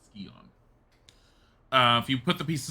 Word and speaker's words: Scion: I know it looks like Scion, and I know that in a lot of ways you could end up saying Scion, but they do pronounce it Scion.